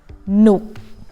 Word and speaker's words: สนุก: For the second syllable, you just need to pronounce it as if there is หอหีบ preceding it. Like this. So you add หอหีบ then it become หนุก with low tone or หนนถนน or add หอหีบตลก okay สนุกถนนตลก so you pronounce them as if there's หอหีบ preceding it. If you don't add หอหีบ then it will sound like สนุก with high tone. That is wrong.